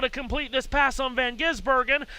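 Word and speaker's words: van Gisbergen: Here's now here's Van Gizburg.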